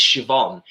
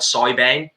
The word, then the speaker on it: Siobhan: that you spell yes the reason i know it's siobhan is because um our lady at work in hr is also called siobhan and it's spelt very very similar and honestly when she first started working for us i thought she was called soybean well i used to know